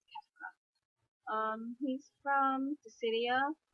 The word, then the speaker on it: Kefka: I'd have to say Kefka. I think that's how you say his name. I heard some people say Kafka, but I think it's Kefka.